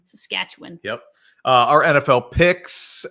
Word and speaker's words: Saskatchewan: you learn how to say it quickly right Saskatchewan Saskatchewan yep uh our NFL picks uh we continue